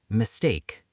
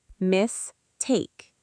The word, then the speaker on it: mistake: Mistake. Mistake. The stress is on the second part. Mistake.